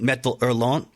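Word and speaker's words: Métal Hurlant: a French magazine called metal erlon if I'm pronouncing it somewhat correctly uh m-e-t-a-l-h-u-r-l-a-n-t which I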